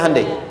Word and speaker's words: Hyundai: Hyundai kan dibacanya Handeai ya kan.